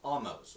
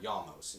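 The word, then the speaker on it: Ahmose: The Hyksos eventually got expelled by Egyptian rebellions, which were led by a guy called Amos or Yamos. You can pronounce it either way.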